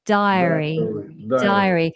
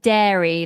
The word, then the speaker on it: diary: Diary. I think you said more like dairy, like milk and yogurt, dairy, but we want diary.